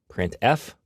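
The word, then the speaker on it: printf: these three are the most popular they are pronounced print F putar and puts each function is designed to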